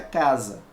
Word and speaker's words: casa: vogais olha aqui ó estando entre duas vogais o som não vai ser de e é se vai ser som de z tá por exemplo como